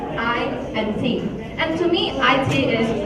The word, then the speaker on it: IT: Information technology is the short form, IT is the short form for information technology and it's pronounced as two separate letters, I and T.